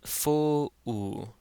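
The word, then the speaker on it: ⲫⲟⲟⲩ: So, this does not say foo. It says foo oo, foo oo. So, we have the fe and that first short o in one syllable, foo, and then the short o followed by the epsilon to make that oo sound. So, this is foo oo.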